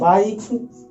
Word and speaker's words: bike: बाइक, बाइक, इसको पढ़ते हैं बाइक, यानी कि बाइक, भूलिएगा मत, BIKE यानी कि IKE, तो यहाँ पे हो गया आई का उच्चारण आई से, ई का उच्चारण लुप्त हो गया, यानी कि बाइक।